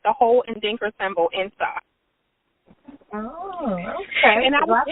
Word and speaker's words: Nsaa: Can you pronounce that again? It's INSA. INSA.